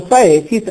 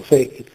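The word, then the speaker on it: faecit: Oppure il perfetto Fekit, non c'è alcun dittongo, Faekit, è scritto Faekit, ma certamente era pronunciato Fekit.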